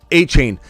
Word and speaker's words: Etienne: on it's a Sean I hear a Chan a chain all the time I hear both of them and maybe the pronouncers uh the announcers are pronouncing it wrong through all of college but everybody's called him a chain and not to mention